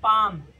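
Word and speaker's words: palm: हथेली मतलब पाम जहां पे L silent P ए एल एम L silent होता है उसको पाम पढ़ा जाता है।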